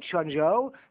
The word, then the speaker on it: Quanzhou: l'est, jusqu'au port de Changzhou, que vous voyez en face de Taïwan, d'où il est parti, ça s'écrit Quanzhou, mais on ne prononce pas comme ça, d'où il est parti